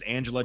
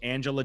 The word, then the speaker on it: Anjelah: Her name's Angela Johnson. Okay. Yeah, it's spelled with ANJ. ANJELAH. Angela Johnson is her name.